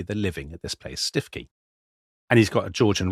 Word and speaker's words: Stiffkey: The only thing that's pronounced Stuki is the local cockals, which are called Stuki Blues, but the people of the area call the place Stiffy.